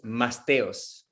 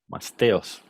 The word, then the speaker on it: Masteos: Oh yeah, name of the company is Masteos. Masteos. Which is easy for Spanish people.